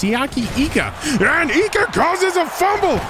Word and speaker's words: Siaki Ika: been handed to note we've been saying siaki ika's name wrong all along it's siyaki IGA and Ika causes a